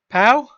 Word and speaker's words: Poe: No, but P-O-E, the E makes the O and O sound. Whatever. No, it makes it Poe. With the E at the end, it would be Poe. Every time.